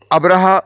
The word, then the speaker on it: ابرہہ: السلطنت تسلیم کر لیا۔ یونانی مورخین اس کو ابرامس اور سریانی مورخین ابراہام لکھتے ہیں۔ ابرہہ غالباً اسی کا حبشی تلفظ ہے، کیونکہ عربی میں تو اس کا تلفظ ابراہیم ہے۔ یہ شخص رفتہ رفتہ